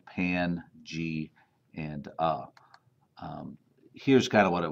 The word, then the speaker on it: Pangaea: It's pronounced Pan, G, and A.